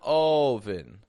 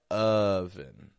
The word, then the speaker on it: oven: my lips round I'm not going oen I'm not stretching it out just because it's an O spelling my lips are kind of neutral my jaw drops lightly doesn't drop that much just drops a little uh but my tongue is low in the back of my mouth and it's low in the front uh uh not a or o but oven here's another one which